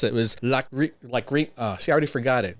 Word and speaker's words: Lachryma: And I had to Google this up because I didn't know how to pronounce it. It was Lachryma. See, I already forgot it. Okay. Listen again, listen. Lachryma. Lachryma.